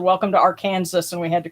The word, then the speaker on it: Arkansas: it's all one word arkansas a-r-k-a-n-s-a-s pagan pride dot org yes yes arkansas has a silent s at the end yes it's a it's